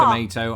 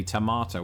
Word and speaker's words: tomato: Another You say R. tomato, I say tomato.